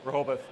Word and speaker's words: Rehoboth: Alan is currently working at, and hopefully I get this right, Rehoboth. How do you say it? Rehoboth.